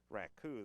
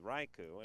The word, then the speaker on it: raku: from his junior college to correct me on my uh pronunciation of the firing of clay technique known as uh raku that i called raiku it is he also corrected me